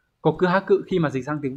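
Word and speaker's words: 告白: cáo và chữ bạch từ này được đọc là gì Các bạn được đọc là cộ cư ha cự đúng không cộ cư ha cự khi mà dịch sang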